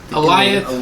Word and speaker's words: Alioth: Alioth, which is like Goliath, but no G. No G.